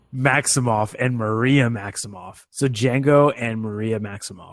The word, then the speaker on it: Django: So Django and Maria Maximoff. Is it DJ? It is DJ. Wow. The D is silent.